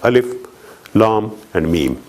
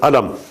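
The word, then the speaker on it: الم: not pronounced as words they're not joined together they are separate they are pronounced separately like alif L and me they're not pronounced as Alam although has taken he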